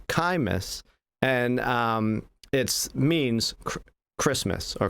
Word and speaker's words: Xmas: So Xmas isn't actually pronounced Xmas. It's actually pronounced Chimas, and it means Christmas or Christ's Mass again.